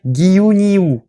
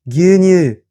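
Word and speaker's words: 牛乳: lait, je devrais dire Giyu Niyu. Giyu Niyu. Parce que le U est allongé. Dans la réalité, quand ça se prononce, c'est Gyunyu. On voit bien que Giyu Niyu, Gyunyu, on est quand même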